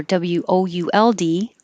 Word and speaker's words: would: and 14 it doesn't matter if you spell it w-o-o-d or w-o-u-l-d the vowel is the same would so with